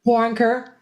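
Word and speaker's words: Waronker: And, Lenny Warren, how do you pronounce his last name? Warrenker? Warrenker.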